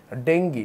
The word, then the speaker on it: ডেঙ্গু: কমবেশি জানো ডেঙ্গুর প্রকৃত উচ্চারণ হচ্ছে ডেঙ্গি এটা হচ্ছে একটা ভাইরাস